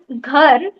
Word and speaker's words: घर: When you pronounce ghar, that time you didn't pronounce or you didn't make the sound of h.